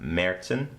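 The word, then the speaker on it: Märzen: Munich, and the first is the Paulaner Oktoberfest Marissen. It's M-A-R-Z-E-N with the little umlaut over the A, but it's pronounced Marissen.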